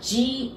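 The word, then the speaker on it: じ: Za, ji, zu, ze, zo. But pay attention to the second one. That would supposed to be Z, I, and Z. But we pronounce it like J, I, G.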